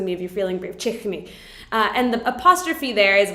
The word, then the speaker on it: Quechua: So the Q in Quechua is pronounced like ha, like a ha. So then for the chichni, it would be chichni, which means hate.